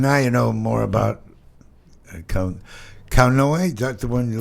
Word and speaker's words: Kauanoe: And now you know more about Kaunoa? That's the one you like to use? Kaunoa. So I was named after my grandfather who pronounced it Kaunoa and that's why I say it the way I do.